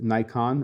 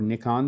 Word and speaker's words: Nikon: this solution along with Nikon or Nikon, depending on where you are and how you pronounce it, with their Z or Z6 and Z or Z7 mirrorless cameras.